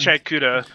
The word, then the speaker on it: Gachiakuta: And that's not Gachiakuta.